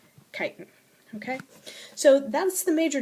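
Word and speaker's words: chitin: another complex carbohydrate and that's spelled with a ch ch i t i and kiten okay so that's the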